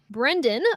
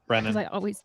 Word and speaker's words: Brennan: Brendan, Brendan Pohl. We're pronouncing this correctly. Brennan.